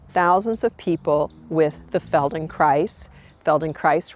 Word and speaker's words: Feldenkrais: of people with the Feldenkrais rhymes with paradise method.